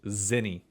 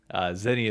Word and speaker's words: Zinni: First, brother, it is Zinni. Zinni is the pronunciation of his name.